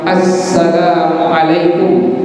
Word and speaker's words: Assalamualaikum: Jadi kalau seandainya ada orang yang bilang Assalamualaikum dengan benar dia ucapkannya, maka kita ada kewajiban untuk membalasnya dengan kalimat Assalamualaikum. Jadi sinnya benar, ainnya benar, memnya benar.